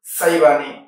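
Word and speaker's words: السيباني: আব আশাইবানি এবং আব সাইবানি একটি হলশিন দিয়ে একটি সিন দিয়ে দুনটি উচ্চারণ কাছাকাছি লেখার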